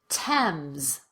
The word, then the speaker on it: Thames: most common exceptions are words that are spelled with th but pronounced as t or the t sound let's go through them together repeat after me thomas teresa ty time thames ester and in this